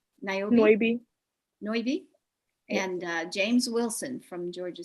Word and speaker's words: Noibi: how do you say your last name naomi noivy and james wilson from georgia state uh they